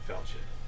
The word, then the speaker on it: falchion: I actually never knew how to pronounce that word. I had only read it. So falchion. Good to know.